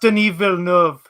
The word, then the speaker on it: Denis Villeneuve: It's French Canadian. Villeneuve. What? It's pronounced Denis Villeneuve. It's French.